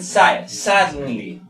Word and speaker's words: silently: Por ejemplo, silently. Mayor fuerza de voz en silently.